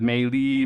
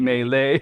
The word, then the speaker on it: Maylys: I know there's some things running out there with Maylys, Melee. It's just Maylys. It's Melee, Maylys.